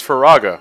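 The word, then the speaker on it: Firaga: yeah probably said it wrong neither neither neither stupid fool it's faraga oh thank you by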